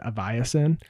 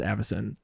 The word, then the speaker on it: Avacyn: I had a friend who used to pronounce Aviacin, Oh. and it was like, oh, that is such a fancy set, Aviacin Restored. And then they were like, oh wait, it's pronounced Avacyn.